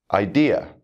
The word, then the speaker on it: idea: the first syllable here there are some exceptions which we have listed at the bottom of the screen idea exam disease mistake you can hear the stress falling on the second syllable in these words rule number two